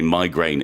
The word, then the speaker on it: migraine: Some people do say migraine. I've heard that Really? said before. Yeah, Oh, I've heard it I've never said. heard that. But certainly in the UK, migraine is the most common pronunciation.